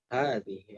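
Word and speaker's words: هذه: Karena dibacanya panjang meskipun ditulisnya pendek. Hadza, hadhihi, haknya maksudnya.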